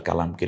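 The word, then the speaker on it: قُلْ: ইনশাআল্লাহ আমরা সত্যিই আল্লাহর কালামকে হৃদয়ে ভরে তেলাওয়াত করতে পারব এই টাকে কেন কালার করা হলো কারণ ওস্তাদজি একেবারে সোজা কারণ কারণ হচ্ছে এই কফটা একটু গম্ভীর আওয়াজে উচ্চারণ হয় তাহলে হয়ে গেল কুল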